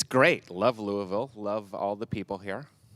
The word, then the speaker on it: Louisville: it uh I don't I love saying it Louisville I don't know if that's the correct pronunciation is it okay great that's how I've